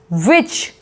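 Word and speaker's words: witch: फिर विच, विच, विच बोला जा रहा है, टी का साउंड यहाँ पे नहीं आ रहा है।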